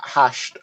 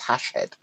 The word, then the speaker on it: Hashed: When you say that Hashed, and this is the first time I've actually heard you pronounce it, because I've always read it as Hashhead.